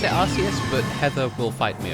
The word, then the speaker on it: Arceus: it arceus ah i i think our chaos is the most logical because it's arc as in like archangel and then deus as in deity and or you know